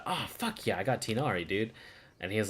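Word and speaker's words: Tighnari: found his way into any Tainari posts, or Tignari if you want to say it correctly.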